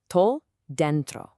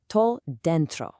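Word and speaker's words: tô dentro: The absolute punch of this phrase lives right in that capitalized middle syllable, den. You want to hit that den hard and let the tro just softly roll right off of it.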